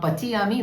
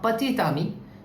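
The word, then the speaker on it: petit ami: If I write a word, for example, pati ami, so this is not pati ami, this is pati tami. So T will be pronounced before the word ami, the ending T, pati tami, which means a boyfriend actually, pati tami.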